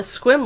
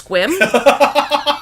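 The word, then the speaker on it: Sequim: my bestie had this pen that said uh squim Lavender Festival and this person stops on looks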